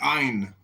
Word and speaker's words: Ayn: It's Ein. Ein. Is that Celtic Irish? No, it's the name of a famous author named Ayn Rand.